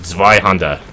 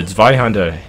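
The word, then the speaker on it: Zweihänder: Or if you pronounce that in like the correct German accent, it sounds more like Zweihander, I think.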